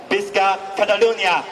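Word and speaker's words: Visca Catalunya: 咁如果用翻當地文，大概個讀音咧應該就係 Bisca Catalonia。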